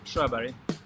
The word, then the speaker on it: Sjöberg: last name my my full name is and strawberry Strawberry yes oh perfect my research and is